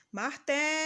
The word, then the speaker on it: martelo: sílaba da palavra última outro exemplo martelo agora a sílaba que a gente demorou mais pronunciando foi o até o ter é a penúltima sílaba da palavra penúltima é aquela que fica